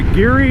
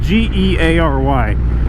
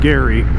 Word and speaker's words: Geary: I think it's pronounced, it's spelled G-E-A-R-Y. I assume it's pronounced Geary instead of Gary, like Gary, Indiana, or Gary Holloway.